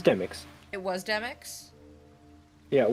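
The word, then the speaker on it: Demyx: And Demis, not Demix. No, it was Demix.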